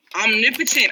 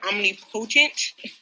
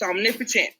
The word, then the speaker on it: omnipotent: Omnipotent. I know it looks like it would say omnipotent. It's omnipotent.